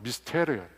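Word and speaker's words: μυστήριον: 이 비밀이라는 말은 헬라어로 미스테리온이라고 합니다. 미스테리온. 영어 발음과 비슷하죠.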